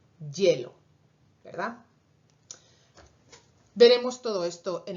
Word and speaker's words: hielo: Originalmente el sonido inicial sería una I, pero porque está al principio de palabra y está la E ahí, al final lo pronunciamos más como Y, hielo, ¿verdad?